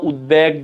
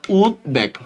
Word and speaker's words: উদ্বেগ: ভালো করে খেয়াল করো অনেকে উদ্বেগ বলবে কিন্তু এটা হচ্ছে সন্ধিজাত একটা শব্দ উদ্বিগ্ন উদ্বেগ দিক বিদিক ঋগ্বেদ এগুলোতে ব উচ্চারণ হয় তো সেক্ষেত্রে এটা হবে উদ্বেগ উদ্বেগ জাস্ট এতটুক এখন এখন